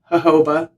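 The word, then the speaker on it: jojoba: Now that I know how to pronounce it, Hoba rich moisturizer that helps soften the hair.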